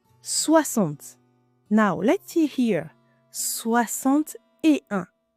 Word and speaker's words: soixante-et-un: now, let's see here soixante-et-un you see first we didn't pronounce the "x" sound it sounds like "x" was an "s", like in dix you remember soixante-et-un here